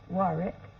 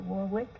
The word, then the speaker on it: Warwick: But over the controversy of my name is Warwick, the way you pronounce it. Warwick, yeah. Right. And in the States, they pronounce it Warwick, merely because we pronounce syllables, you know. So, either way, it doesn't matter.